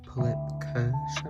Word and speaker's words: Pullip Kirsche: So, this is obviously Pulip Kersh, I believe is how you pronounce it.